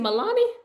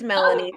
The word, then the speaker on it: Melanie: Is it Milani? You can say my name that way. I like it. It's Melanie, but it doesn't matter.